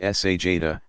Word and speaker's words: sajda: Sajda, pronounced sajda, to place hands flat on the floor at shoulder width.